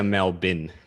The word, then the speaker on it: Melbourne: you say it melbourne no yeah we say mel bin melbourne we would pronounce it say it out loud melbourne yeah